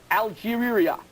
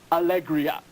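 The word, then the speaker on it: Alegría: Bernard Hopkins to Faye Algeria a national charity in Ecuador which translates in English to Faith and happiness Alegria is the correct pronunciation so Bobby Chez a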